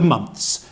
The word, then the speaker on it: months: very good very good the next word is very similar to clothes because it has the the sound at the end and that is months